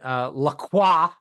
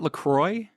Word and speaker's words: La Croix: I've heard it pronounced La Croix, but it could have been somebody who was exaggerating for comedic effect I and assumed that it was purposely. pronounced the same way as like St.